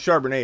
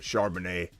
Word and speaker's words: Charbonnet: up there as well charbonnel charbonnet i think it's charbonnet is how you pronounce it maybe i'm wrong but uh charbonnet is